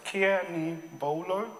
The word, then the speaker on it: Kenigbolo: is Kenny bolamea Stephen cannibalo is pronounced as Kiani bolo but you can always